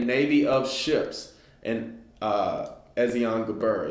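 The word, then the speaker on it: Ezion-geber: And King Solomon made a navy of ships and uh Ezon Gabber is how I always pronounce it. It could be Ezon Gber, whichever, which is beside Elath on the shore of the Red Sea in the land of Edom.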